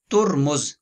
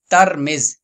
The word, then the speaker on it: ترمذ: سب سے پہلا قول ہے ترمز، تا اور میم کے پیش کے ساتھ، اور نمبر 2 ترمز، تا کے فتح یعنی زبر کے ساتھ اور میم کے زیر